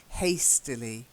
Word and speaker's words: hastily: Duke method yes and then hastily just a bit more of an a sound ok hastily hey still hate hastily